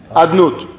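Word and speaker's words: אדנות: Es decir, ¿cómo se escribe y cómo se lee? ¿Cómo se escribe? Yud Ke Vav Ke. ¿Cómo se lee? Adnut.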